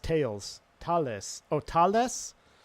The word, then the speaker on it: Thales: So Thales is pronounced tails. Thales. Oh, Thales? It's pronounced Thales. Thales? Like Thales? I'm going to call it Thales just to make sure everyone knows I'm not French.